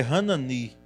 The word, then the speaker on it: Hanani: Hanani, e se for hebraico é Hanani, sílaba tônica no final, e é o nome hebraico.